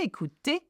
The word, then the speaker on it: écouter: OU is pronounced O. So j'aime écouter, and ER is pronounced just like the E with an accent aigu.